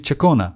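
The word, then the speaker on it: Ciaccona: you know she's actually She pronounced her name as my name is Chakona like like that. But Rover pronounces like kind of hard like first letter you know Chakona.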